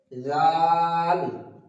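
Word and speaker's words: ذ: আবার দাল তারপর আসছে জাল জাল এটা হালকা একটা তুতলা হবে জাল একদম যেন চয়ে আকার ল জাল এরকম জাল যেন না হয়ে যায় এটা একটা তুতলা ভাবে হবে জাল তারপর আসছে র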